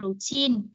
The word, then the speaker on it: routine: Cô nói ví dụ như chữ routine, mình đọc đúng là routine, routine thì chúng ta sẽ nhấn được vần 2 nè, mình nhấn ngay chữ tin, routine là nhấn vần 2.